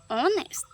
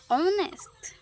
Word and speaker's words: honest: honest honest Sometimes silent.